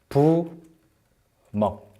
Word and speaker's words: 부먹: 그래서 이거를 찍, 먹, 부, 먹. 발음할 때는 찍먹, 부먹, of course. 이렇게 발음해요.